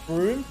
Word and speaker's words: Frome: One of the towns in England is pronounced Froome, spelled Frome.